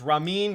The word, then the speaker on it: Ramin: I'm saying it wrong it's raw mean not ramen he's not he's not noodle soup apologize ramen javadi so